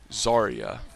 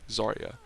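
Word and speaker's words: Zarya: with the pink hair zaria I think is how you pronounce it it definitely is with the Z and a and an R and a Y and an a zaria one of her abilities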